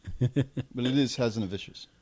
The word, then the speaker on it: Hazanavicius: But it is Hazanavicius. It's French. How did he pronounce the lead's name?